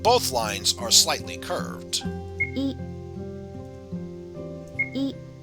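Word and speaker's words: え: for the next character this is e or e it's the equivalent of the vowel i in english you pronounce this as e e is a short vowel so let's practice writing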